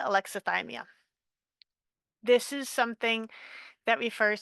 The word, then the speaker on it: alexithymia: Um, so I've heard this pronounced a bunch of different ways, but I've heard it pronounced by people from 6 different countries. So I'm going to pronounce it alexithymia.